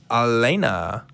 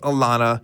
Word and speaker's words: Alana: want to get to elena or alana excuse me i have a note here that says it should be pronounced alana alana in new york